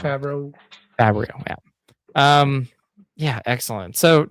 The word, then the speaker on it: Favreau: I think I pronounced his last name wrong. Favreau.